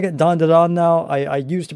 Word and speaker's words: Dandadan: It is just phenomenal from front to back, and I'm pronouncing it Dandadan now. I used to pronounce it Dandadan, but I heard that it is Dandadan, and that is how it's pretty much pronounced